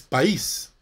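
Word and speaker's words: παῖς: la segunda palabra es país así como país no la palabra país nuevo país que significa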